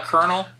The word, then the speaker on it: colonel: You know the word kernel? You ever spell that? Don't. It's not worth it. Oh, yeah. Oh, yeah, or like baloney. C-O-L-O. N-E-L. Yeah, that one's just that one pisses me off.